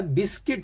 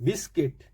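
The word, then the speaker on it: biscuit: तो बिस्कुट नहीं होता बिस्किट होता है और यू नहीं बोलना है आई बोलना है बिस्किट नॉट बिस्कुट बिस्कुट rough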